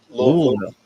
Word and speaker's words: Louisville: Because no, I'm in Louisville, Kentucky. You didn't say it right. It's Louisville. Louisville.